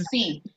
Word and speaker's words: efficiency: No es Eficiente. eficiency. La Y muere.